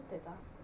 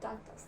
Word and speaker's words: tetas: It is tetas. Oh, tetas. Tetas. Not tatas. That's no, potatoes. No. That's patatas. Close. Yeah, so in Spanish it's tetas.